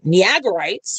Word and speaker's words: Niagarites: Whereas the um Niagara Nigerites, Niagarites, right, that's the proper way to pronounce it.